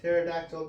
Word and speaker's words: pterodactyl: can't you hear a pterodactyl go to the bathroom what did you stream because the p is silent pterodactyls are not silent